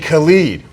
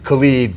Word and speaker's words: Khaled: DJ Khaled. DJ Khaled, Mr. We the Best. Khaled? No, it's Khalid, but you know, Khaled or whatever, that, you know, it's actually pronounced Khalid.